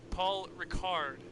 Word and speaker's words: Paul Ricard: place with 124 points paul ricard is apparently the pronunciation being corrected by my engineer in the booth as we get underway